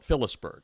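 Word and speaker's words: Phillipsburg: if I call it peber it's you know or or I can use the locals pronunciation which is they they kind of leave out some uh consonant and call it fisberg so anyway with that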